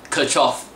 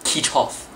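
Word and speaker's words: Kirchhoff: example this word okay this word is called kirchoff but he pronounced it as kichov what the hell is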